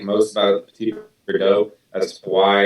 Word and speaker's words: Petit Verdot: And as you can see, Petit Verdot is not spelled petit, so it's petit. Yeah, it doesn't have it. Petit is how you spell it. Yeah, so it's Petit. There is no E, and then Verdot.